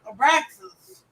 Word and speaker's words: Abraxas: I was waiting on the Abraxax. I don't know if I pronounce it right. It was close. Abraxas.